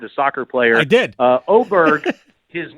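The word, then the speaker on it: Åberg: And he said, also, I think it's kind of cool how all the hockey players like Forsberg, they have a hard G at the end. I want a hard G too.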